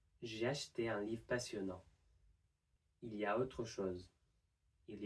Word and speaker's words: il y a: So what happens is that we don't pronounce the L and we blend both of the E sounds together into a semi-consonant y. So instead of il y a, it would just be ya.